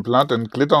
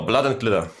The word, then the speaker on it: Blood & Glitter: Blatt, oder ne, wie wird es richtig ausgesprochen? Blatt und Glitter, also Blut und Glitzer. Genau, Blood and Glitter.